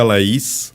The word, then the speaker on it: Laís: Portanto, para mim é o Laís Félix, mas podes pronunciar corretamente. É Laís. Laís. Laís.